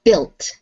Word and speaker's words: built: The next one, well built. Well built. We don't pronounce the U in that word.